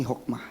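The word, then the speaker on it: Hoekema: dari karangan Antoni Hokemah tulisannya Hokemah saya bacanya Antoni Hokmah nah Bapak Ibu Saudara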